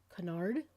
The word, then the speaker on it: Cunard: with talking about canard I pronounce it Kuhn argh I've heard some of the representatives of the company pronounce it canard so I'm guessing that's how it's supposed to be pronounced um at any rate